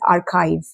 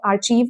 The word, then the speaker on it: archive: Now, our ninth word is archive. It's not archive, it's archive, archive.